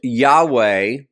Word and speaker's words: Yahweh: tetragrammaton, it's the YHWH, which is typically pronounced Yahweh, or in the English version, we would refer to as Jehovah or Jehovah. The J is typically pronounced with a H sound.